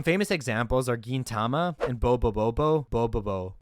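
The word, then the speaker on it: Bobobo-bo Bo-bobo: examples are Gintama and Bobo Bobo Bobo both of these series that's how you say it like I love Bubble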